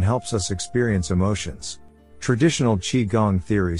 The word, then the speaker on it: qigong: a few lessons or classes what is Qigong pronounced Qigong Qigong is an internal process that has external